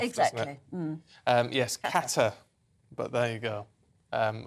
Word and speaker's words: Qatar: Um yes, Qatar.